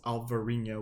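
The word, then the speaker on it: Alvarinho: the same thing but in Spain it's albarina with a b and in Portugal it's alvarina with a V okay so small difference now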